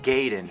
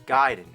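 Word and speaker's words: Gaiden: talking ninja guided everyone always said Ninja gayen but I know for a fact it's giden I learned that from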